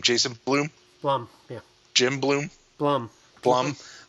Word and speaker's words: Blum: Blum. Yeah. Jim Bloom. Blum. Blum. Blum. I say it wrong. Don't care. Say it like plum, but a B there instead of P there.